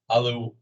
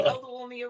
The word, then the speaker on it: Oluwumi: Aluwanmi? No, I butchered that. No, it was close. It's Oluwumi, Olu for short.